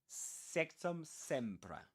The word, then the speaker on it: Sectumsempra: So this is pronounced like this. Sectum. Sectumsempra.